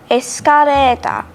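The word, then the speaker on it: エスカレーター: easy to catch actually the basic rule is that l is often pronounced as r for example as i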